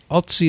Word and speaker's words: Ötzi: hereby I want to inform you of a little flaw in your knowledge about Otzi the Iceman. Is that how you say it? Otzi? Otzi. Yeah. Ötzi. More like Ötzi. Ötzi.